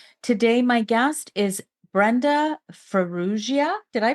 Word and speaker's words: Farrugia: and lifestyle Queen today my guest is Brenda feru did I pronounce that right you did you I did